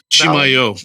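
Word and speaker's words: Chimayó: Chimayo, accent on the O.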